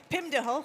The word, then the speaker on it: Pim de Hooge: at Radisson Hotel Group, Pim de Hooge. Thank you. Is that correctly pronounced? Yes.